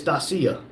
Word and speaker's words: Dacia: Rumble said it's not DACA. It's Dacia.